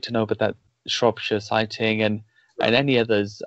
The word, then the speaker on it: Shropshire: the two from Shropshire is that am i pronouncing that right Shropshire a shuttle said that's right okay one was